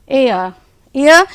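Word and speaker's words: heir: उनके पिताजी की जब डेथ हो गई तो his eldest son एंड एयर, यहाँ पर एच बी साइलेंट है और आर बी साइलेंट है बच्चों, तो ईया बोलेंगे इसको, उत्तराधिकारी होता है इसका हिंदी में मीनिंग।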